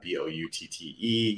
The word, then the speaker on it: Boutte: On Instagram, I am underscore Boutte, B-O-U-T-T-E. Yes, my last name is Boutte. If it's not funny, you're not saying it right.